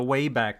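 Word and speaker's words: WABAC: then they had the wayback machine which i actually spelled w-a-b-a-c but pronounced way back it resembles a computer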